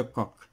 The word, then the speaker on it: Koch: Bacille de Koch, CH, ça se prononce Koch.